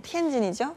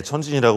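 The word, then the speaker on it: 天津: 천진, 티엔진이죠? 예, 천진이라고 우리는 발음하기가 쉽게 하는데 공업 기지로 성장한 곳이죠.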